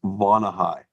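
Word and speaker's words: Vonahi: We bought a couple of products from them already, and the product they have it's pronounced Vonahai.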